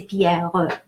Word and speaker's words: Pierre: And the final E in Pierre, another rule of thumb, final E is silent or pronounced E or A, so silent. I can say, if I really enunciate, I can say Pierre, right?